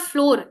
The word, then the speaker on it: flour: it's not flower see remember exact same pronunciation or similar pronunciation yeah flour so flour and flour flour both are pronounced as flour same flour okay um